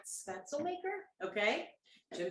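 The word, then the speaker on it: Spätzle: this and i think i'm saying it right spencel maker okay jim says yes and he would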